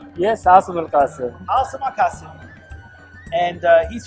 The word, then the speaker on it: Asim Al Quassim: Yes, Asim Al Quassim.